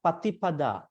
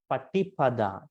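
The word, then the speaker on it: paṭipadā: But if you see there's a dot below T, we don't say te, not patipada. It should be patipada, te. Okay. So it should be pronounced as T, as te.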